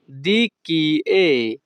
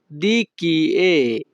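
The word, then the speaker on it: Di chi è: এটা কার এই বাক্যের ইতালিয়ান ভাষা হবে দি কি এ। ইতালিয়ান ভাষাতে ই এর উচ্চারণ হবে এ। যখনই আমরা ইতালিয়ান ভাষায় কাউকে বলতে চাইব এটা কার, তখন আমাদেরকে বলতে হবে দি কি এ।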